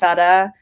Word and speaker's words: Sutta: last name is Sutta. It rhymes with slut.